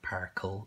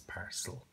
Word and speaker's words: parcel: so it's a and this is a soft c because of the e besides the sound here that's a soft see it's not particle it's parcel yeah this is emma